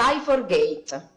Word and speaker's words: Cy4gate: lei perché se io sbaglio sicuro Come si pronuncia Buongiorno presidente Buongiorno S for Gate S for Gate Spa prego a 10 minuti a sua disposizione